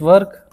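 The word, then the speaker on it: work: वर्क, और again guys इसको वर्क ना बोलें because are is silent. British जो एक्सेंट होता है उसमें हम आर को साइलेंट करते हैं अगर आर के बाद कोई कॉन्सोनेंट साउंड है तो, अगर आर के बाद कोई वोल साउंड है सो आर को आप प्रोनाउंस करें।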